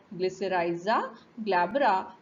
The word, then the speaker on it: Glycyrrhiza glabra: So it is pronounced as Glycyrrhiza glabra, belonging to the family Leguminosae, and it is